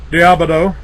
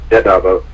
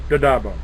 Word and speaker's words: D'Addabbo: Diabado. Did I get it right? Pretty close. Very close. It's pronounced Dadabo. Dadabo.